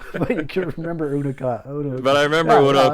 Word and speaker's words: Una: And she said Una.